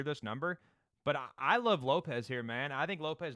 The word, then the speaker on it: Lopes: So I could be wrong here, man, but I think Lopez, and I think it's pronounced Lopes, but everybody says, yeah, this is literally Lopes, bro. No, Diego Lopes. I know everybody says Lopez, but whatever.